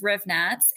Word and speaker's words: Hrivnatz: But is just, and last name is Hrivnatz, Hrivnatz.